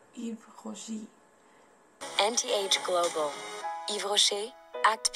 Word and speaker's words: Yves Rocher: Actually, this is a French brand. That's why you have to keep that pronunciation, that French pronunciation, and we pronounce it like Yves Rocher.